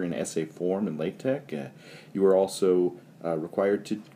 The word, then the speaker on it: TeX: tech file tex where the x is like a greek chi so it's pronounced tech not text a text file and